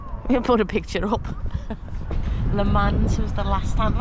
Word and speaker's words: Le Mans: Le Mans was the last time. Have I pronounced that correctly?